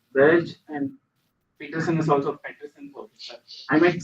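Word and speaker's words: Petersen: So for Peterson we saw it is atmospher conjecture that it is atmospheric cubic. So the name is pronounced Burj and Peterson is also Peterson.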